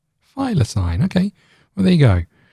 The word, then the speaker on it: thylacine: heard of it how do you say it thylacine file a sign okay well there you go uh there you